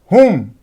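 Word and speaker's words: whom: हुम, तो देखिए एच का उच्चारण हो रहा है, W यहाँ भी साइलेंट है।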